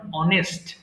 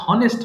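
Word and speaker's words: honest: এর উচ্চারণটা বাদ যেমন অনেস্ট এটা অনেকে ভুল করে হনেস্ট বলে ফেলে আবার আওয়ার মানে যে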